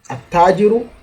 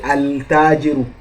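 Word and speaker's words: التاجر: Ta, at-tajiru, the trader. We didn't say al-tajiru, we said at-tajiru. You stress it, you stress the ta.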